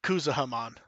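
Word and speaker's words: Kuzuhamon: Like, and right under, what is it, Kuzahamon. I always say that name wrong.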